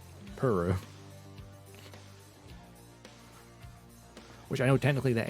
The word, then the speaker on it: Puru: puru 12 cuz all the video games said puru which I know technically that is the correct